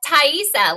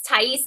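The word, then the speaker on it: Taissa: It's Thaisa, Lily. It's Thaisa. I had like 20, 30, 40 comments about how I was saying her name wrong.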